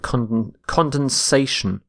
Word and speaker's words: condensation: spelling a little bit condensation condensation so you need to add an a instead of the e so notice this the shift in stress from condense to condensation our next word is